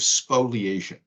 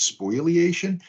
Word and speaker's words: spoliation: in the United States uh an issue of spoliation now many people mispronounce it as spoilation that's fine because it helps folks to remember